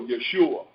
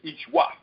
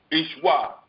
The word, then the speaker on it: Yeshua: the time, they go, Yeshua. When in reality, it's not pronounced that way. It's Ishwa. Ishwa.